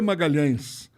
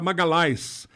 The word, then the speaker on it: Magalhães: nome é de Magalhães eo Magalhães da Itália não é pronunciado LH não existe então era Magalhaes Magalhaes Magalhaes não existe nada pior do que isso um empresário italiano pegou